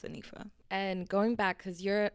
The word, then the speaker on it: Anifa: So it's pronounced Hanifa in Arabic, but my name is Anifa.